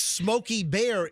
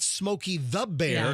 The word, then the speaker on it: Smokey Bear: It's Smokey Bear. It's not officially. It's not Smokey the Bear.